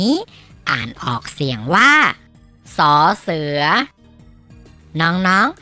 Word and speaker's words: ส เสือ: ที่ น้อง ๆ มอง เห็น อยู่ นี่ คือ สอ เสือ สอ เสือ สอ เสือ มี ส่วน เสียง ของ พยัญชนะ ออก เสียง ว่า ศ.